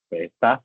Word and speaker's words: esta: Esta sí lleva la tilde. Me gustan todas las sigletas que tengo, pero prefiero esta sin tilde. Palabra llana, su sílaba tónica está en es.